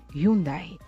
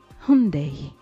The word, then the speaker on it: Hyundai: Beaucoup de personnes disent Hyundai. Eh bien, c'est incorrect. Il faut plutôt prononcer Hyundai. Hyundai.